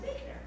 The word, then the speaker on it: Buechner: So if you've ever seen some things around, writings around spirituality and reflection, I learned it's not pronounced Buchner, it's pronounced Buchner.